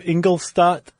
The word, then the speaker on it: Ingolstadt: No, I mean technically you should say like "Shtat" instead of "Stat".